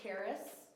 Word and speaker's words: Caris: way more of you my name is Caris rhymes with Paris but it starts with a C that's my whole bit